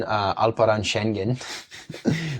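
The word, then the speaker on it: Alperen Şengün: teams well actually on alaran shenen which is how H Hassan AB says his name so that's how I say his name is he maybe not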